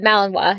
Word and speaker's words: Malinois: Malinois? Oh, Malinois, yeah.